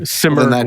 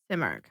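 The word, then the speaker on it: Simurgh: how he found it so simmer would be correct simar okay the simar yeah that's what we're gonna go with yep it hurts me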